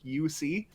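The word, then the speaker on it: Juuse: like j-u-u-s-e is the the first name is uc yeah and soros and uh the first time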